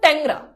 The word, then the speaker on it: ট্যাংরা: একটা উদাহরণ দিই, আমি লিখলাম ট্যাংরা। দেখো ট্যাংরা। এখন ভাইয়া দেখো তো, এই যে একার, এই একারের পর উ আছে না? আছে। তাহলে এই একারটা জফলা আকার হবে, তাহলে উচ্চারণ হবে কি? ট্যাংরা।